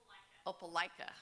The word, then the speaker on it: Opelika: Opelika.